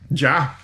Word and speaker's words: ja: nein I loved it ja I loved it does it JA yeah it's y'all you don't pronounce the J yeah it's kind of